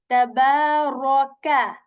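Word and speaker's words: تبارك: Tabaraka. Okay, so this first letter is light here, ba is light here, ra is heavy here, and kaf letter is light letter. Okay, so we say tabaraka, raka, tabarakalladhi.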